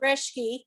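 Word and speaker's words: Reschke: unless i'm here i'm here last name is reshkey spell it please r-e-s-c-h-k-e wonderful thank you so much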